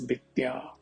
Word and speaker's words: विद्या: Vidya, here in Awadhi it is pronounced as Vidya.